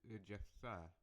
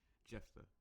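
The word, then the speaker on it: Jephthah: the message of je Jeff Jeff I've been saying his name wrong this entire time jeffa which he sent to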